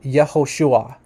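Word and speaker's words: Yehoshua: DDOT says here that the classical pronunciation which means like the pre-exilic name of of Yeshua is actually yahushua yahushua okay so this is the name Joshua okay and in pre-exilic times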